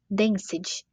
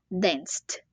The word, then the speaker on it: danced: vai virar danc dançou uma dica de pronúncia aqui é a gente não pronunciar esse e em vez de falar danced a gente fala danced como se esse e não existisse é só uma dica